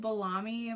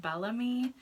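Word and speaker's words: Bellami: get my hair from I call it Balaam II but I think it's supposed to be pronounced Bellamy and the hair is amazing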